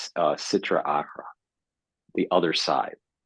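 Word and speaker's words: Sitra Achra: E of evil and the Hebrew word I believe is pronounced Citra arra the other side it's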